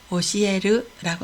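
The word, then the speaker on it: 教える: 가르치다를 오시에르라고 합니다.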